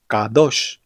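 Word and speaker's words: קדוש: Es decir, que palabras como Kadosh y Kodesh realmente sonarían algo así como Kadosh y Kodesh, como si pronunciaras una Q profunda, usando la garganta.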